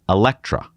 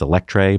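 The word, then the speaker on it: Eletre: first hyper suv the elektra and i know it looks like it's electree but that's how they pronounce it this will be lotus's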